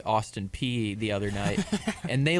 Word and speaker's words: Austin Peay: Apparently that's how you pronounce it, Austin Peay, the other night.